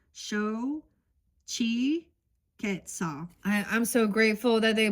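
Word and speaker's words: Xochiquetzal: So it's show chi quetzal. I'm so grateful that they put the how to pronounce it in here.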